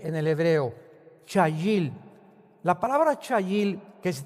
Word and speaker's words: chayil: La palabra hebrea chayil. C h a i l en el hebreo. Chayil.